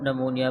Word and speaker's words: pneumonia: यहाँ पे जो पी लफ्ज़ लिखा हुआ है, ये पी साइलेंट है, इसको हम नमोनिया पढ़ते हैं।